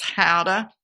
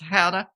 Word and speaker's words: gouda: how it is the the g is sort of silent and it sort of takes on maybe a slight h sound so it's pronounced how to yeah i didn't tell